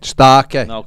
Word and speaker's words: Starke: Listen, get the pronunciation right, lads. It's going to be Starke. Starke.